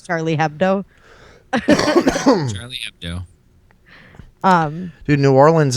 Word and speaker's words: Charlie Hebdo: Like with Charlie Hebdo, which is how you're actually supposed to say that, but everyone says Charlie Hebdo.